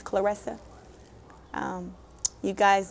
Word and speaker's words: Claressa: And they pronounce my name as Karisa. My name is Clarissa.